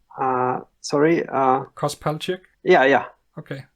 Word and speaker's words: Kos Palchyk: is that um somewhat correct i've pronounced it pronouncing your name uh sorry uh cos pelject yeah yeah okay it's about right because you